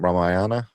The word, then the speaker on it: Ramayana: This one is uh how you pronounce that? Ram Ramayana.